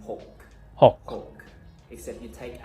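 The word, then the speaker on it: หก: hawk, except you take out the airy part, you don't have to say K. Ho. So you just pretend you're going to Hawk. say the K and say Oh, hawk like and stop it.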